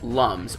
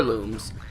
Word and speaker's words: Lums: I'm collecting right now these are called Lums or looms honestly there's there's different ways you can pronounce it either way you want to um I